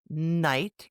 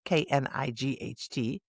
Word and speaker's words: knight: So today we will explore some of the most common ones, like in the words night, Knight, sign, Sign, and half, Half. We'll learn what makes them silent, how to pronounce them correctly, and even have some fun with practice sentences.